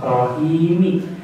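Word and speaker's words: الرَّحِيم: Kalau kita membaca pada tulisannya rahimi. Tetapi karena kita membacanya waqaf atau berhenti menjadi cara membacanya adalah rahim.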